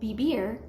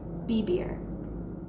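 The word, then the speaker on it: vivir: letter V in Spanish in Spanish B and V make the same sound so for example the word BB r which means to live and is spelled VI VI R is pronounced BB r try saying it with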